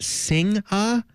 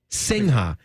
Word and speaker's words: Singha: I believe it's pronounced singha singha it's like singer it's like it's like